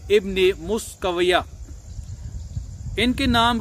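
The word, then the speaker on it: Miskawayh: तो इनके ये जो नाम है तो इसका तलफ़ुज़ मुख्तलिफ अंदाज में किया गया है। तो हम यहाँ पे इनका नाम जो गूगल में दिया गया है इनकी जो प्रोनाउंसिएशन नाम की वो है मुस्कविया।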